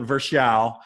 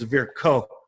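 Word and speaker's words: Virchow: to look up because I've never known how to say this word. Verose triad. It's spelled V I R C H O W. We were taught it in school. We've all been calling it Vers. Um but go Google Scholar. How do you say Versa in German? because it's a German physiologist and it's ver co.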